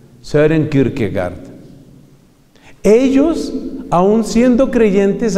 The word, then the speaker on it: Søren: Y el Søren se escribe S-O-R-E-N, con una O rara que existe en el idioma danés y que se pronuncia, entiendo yo, como E, como una mezcla entre O y E. Søren Kierkegaard.